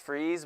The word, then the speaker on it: Fries: and his last name it's pronounced freeze but it's spelled fries I'm 100% he just got married I'm sorry Andrew Andrew freeze I hear a lot